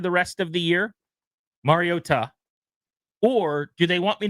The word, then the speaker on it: Mariota: Mario Ta the broadcast team tonight. Right. But why did you say that? Because they're emphasizing the Ta which is the correct way to pronunciate.